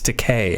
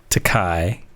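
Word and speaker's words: Takei: It's Teay, actually. I I know. And I I always say it wrong. It's cuz William Shatner called him Teai, right? The story goes. And so people started saying, "Oh, that's how you, you know, do it."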